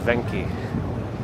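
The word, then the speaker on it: Venchi: This is a pretty good ice cream or gelato place, but I believe it's pronounced Venki, to be more correct.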